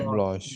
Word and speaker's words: blanc: করে তখন লাস্টে একটা ও দিয়ে দেয়, তাহলে সি পর্যন্ত উচ্চারণ হয়, ব্লঁশ হয়ে যায় তখন। তখন কেমন শোনা যায়? Blanche.